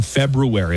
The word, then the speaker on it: February: At the home in, I'm saying February. I'm pronouncing the hard R every time, and I wish everybody else would follow my lead.